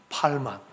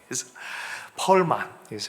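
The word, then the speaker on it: Perlman: 이삭 팔만, 펄만, 그렇게 발음이 되죠.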